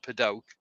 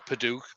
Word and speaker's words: padauk: believed or not a piece of padauk or paduc or however however you want to pronounce it and that was turned